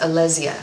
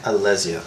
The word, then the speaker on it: Alesia: It's actually pronounced Alesia. Alesia. Okay. Like a Z.